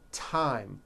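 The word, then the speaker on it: thyme: Theresa Thailand Thames like the river Esther and time which is a spice okay now let's take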